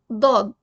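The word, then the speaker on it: ضاد: Saad, Daad.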